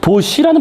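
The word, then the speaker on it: Bosch: 이름이 보스 또는 보쉬라는 발음이 맞을 것 같은데, 보쉬, 그죠? 쉬. 이게 네덜란드식 발음이기 때문에 그 발음을 정확히 저도 모릅니다. 네덜란드식 발음이니까요.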